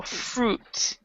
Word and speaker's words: fruit: do not you not say the I so fruit who that you might fruit yeah so that's